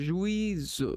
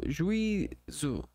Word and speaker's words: juízo: Ó, tenta fazer juízo. Juízo. Não, é juízo. Juízo. Por quê? Porque esse IU não formam um ditongo, né?